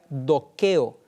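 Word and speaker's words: δοκέω: En el idioma griego es una palabra que se pronuncia dokeo, y dokeo significa apariencia.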